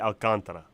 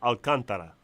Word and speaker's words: Alcantara: Sandy Alcantara for the Miami Marlins, and he's pitching against Thor.